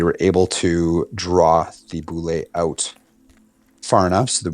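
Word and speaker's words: bulette: And we were cut, as he was coming back, was cut off by is it a boulet or a boulette? I think it's pronounced boulet. Boulet.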